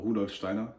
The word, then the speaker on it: Rudolf Steiner: Rudolf Steiner, as he's pronounced in German, Rudolf Steiner, and many other things.